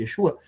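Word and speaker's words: ישוע: Porque Yeshua, ou Yeshua, que é a a tradução, a pronúncia mais correta, Yesua, vai dizer que significa que Deus é a salvação, que é o nome de Josué, do Antigo Testamento.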